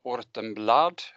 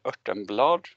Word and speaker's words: Örtenblad: Ortenblad, or in Swedish, I'm Swedish, Örtenblad. It's pronounced, and I'm a professor